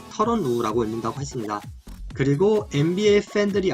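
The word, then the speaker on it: Tyronn Lue: 그리고 터런 루, 보통 사람들이 타이론 루라고 많이 읽는데 본인이 밝히기로 터런 루라고 읽는다고 했습니다.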